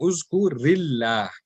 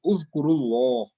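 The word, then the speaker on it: اذكر الله: That's why instead of uzkur, we are saying uzkurillah, uzkurillah. Okay, and when it's plural, it is uzkurullah. Here the Allah Ta'ala will be pronounced with a pur, Allah, and here because of the zair here, it will be pronounced normally.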